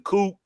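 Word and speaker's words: The Coup: Yeah, you don't pronounce the P. It's the Coop.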